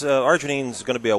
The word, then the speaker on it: arginine: memory and it contains a an item called Arginine did I pronounce that right yeah it's it's an amino